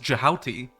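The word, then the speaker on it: Djehuty: pronunciation so for example Thoth is the Greek spelling of how they thought the Egyptians pronounced it but under the quote unquote egyptological convention thought would be pronounced jihauti and if I'm not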